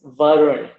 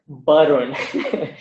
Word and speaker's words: Varun: My name is Varun, not Varun or Barun. My name is Varun.